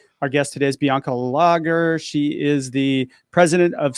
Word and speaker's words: Lager: guest today is bianca lager she is the president of social intelligence corp i pronounced your last name right right yeah it's just like the beer logger okay cool that's what